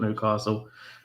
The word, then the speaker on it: Newcastle: I support Newcastle, and I'll always support Newcastle. Castle, as it is meant to be pronounced.